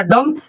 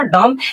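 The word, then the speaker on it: dumb: क्या एम के बाद अगर बी आता है तो कह रहा है बच्चों बी का उच्चारण नहीं किया जाता है। मतलब बी शांत रहता है। तो ध्यान से देखेंगे। देखिए ये हो जाएगा डम।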